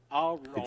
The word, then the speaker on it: Ouroboros: it's pronounced Ouroboros.